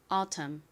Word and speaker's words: autumn: 이렇게 끝에 MN이 연달아 오는 경우 N은 묵음으로 소리가 나지 않는다고 말씀드렸죠. 발음해 볼게요. autumn, autumn.